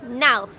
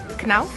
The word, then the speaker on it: Knauf: ah okay cool uh it sounds German to me dwarf no no now canal no no yeah yeah I'm sure it's now yes I would never thought of pronouncing it that way no I wouldn't have